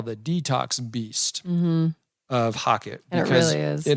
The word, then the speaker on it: HOCATT: So I came across this machine, and it's called the Hocket.